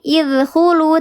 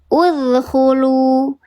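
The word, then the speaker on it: اُدْخُلُوا: Jadi bukan idkhulu tapi udkhulu.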